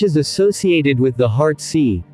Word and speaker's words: si: associated with the heart c pronounced like sir with a slow exhale which is associated with the lungs kui pronounced like chewie